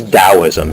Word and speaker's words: Taoism: a brief discussion is taoism sometimes spelled with a t rather than a d as you see it